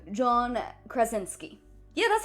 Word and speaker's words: Krasinski: John, I'm gonna butcher his last name, John Krasinski. Yeah, that's how it's pronounced.